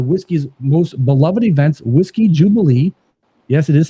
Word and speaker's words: Jewbilee: one of the Whisy's most beloved events, Whiskey Jubilee. Yes, it is spelled J E W B I L E right here in Chicago this October.